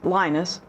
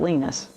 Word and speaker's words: Linus: and her Sidekick is Linus I think he pronounces it Lena's but I'm not sure but anyway he's huge